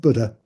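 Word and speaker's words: Bodø: So I call it Bodo again. I always forget that. It's pronounced Buddha.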